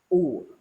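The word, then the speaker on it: οὐ: U. O-U, or in pronunciation, U, double O.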